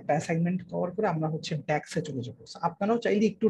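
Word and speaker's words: DAX: ঠিক আছে, একটু প্রোনাউন্সিয়েশনটা বলবেন, কি ফর্মুলা বলছেন? ড্যাক্স, ডি এ এক্স, আমি এখানে লিখে দিচ্ছি, জি ডি এ এক্স।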